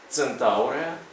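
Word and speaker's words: Centaurea: змінилася на це і в комбінації і cє і C вона читається як C с або ці цирзіум центауреа ципрінус А перед такими голосними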